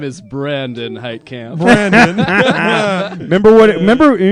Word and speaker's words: Heitkemp: take the raids here my name is Brandon height Camp Brandon remember what remember you remember what he